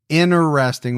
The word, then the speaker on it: interesting: I have say it like three different ways. You do. Interesting without the T, right? Interesting, which I say a lot.